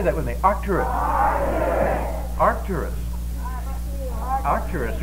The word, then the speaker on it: Arcturus: you all see it that star is called Arcturus now say that with me Arcturus arus Arcturus Arcturus right that's right now Arcturus